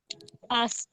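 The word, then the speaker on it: ask: আসক প্রশ্ন করা আস প্রশ্ন করা এটা উচ্চারণটা একটু কঠিন অনেকে আক বলে এটা আকস হবে না এটা কি হবে আস আস প্রশ্ন করা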